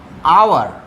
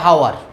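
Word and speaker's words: hour: আর এখানে দেখো আমরা কিন্তু বলি না যে হাওয়ার, এখানে এইচটা কি সাইলেন্ট, তাই তো? এইচটা সাইলেন্ট, ওই কারণে তাহলে এখানে হয়ে গেল অ্যান।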